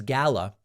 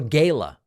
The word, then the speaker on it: gala: New York young Republicans Gala or Gayla I don't really care which way you pronounce it both are fine I've been to five